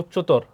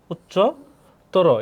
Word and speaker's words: উচ্চতর: বিশেষণ শব্দের শেষে যদি তর বা তম থাকে তাহলে কি অ এর উচ্চারণ উকার হবে। যেমন উচ্চতর, তখন উচ্চতর, এখানে হসন্ত দিতে হবে উচ্চতর।